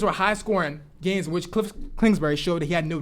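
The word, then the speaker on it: Kingsbury: up points on them clip springer as our head coach does not deserve that job you gotta slow down say his name cliff klingsberg sorry that they just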